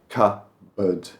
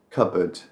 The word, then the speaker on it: cupboard: And we don't pronounce the P, it's just cupboard. We barely say board. Unless you're really over-pronouncing it, it's just cupboard.